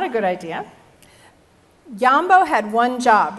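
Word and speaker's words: Jambo: Yambo, it's spelled J-A-M-B-O, was a real gorilla.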